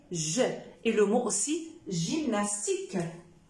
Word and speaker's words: gymnastique: et le mot aussi gymnastique gymnastique voilà pour ne pas négliger cette exception alors gymnastique d'accord gymnastique j'ai y ça donne aussi le son je reviens à ma place